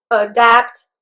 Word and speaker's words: adapt: And also the stress in both words is on the second syllable. There is only a difference in the second syllable's vowels. The first one is a, the second one is a.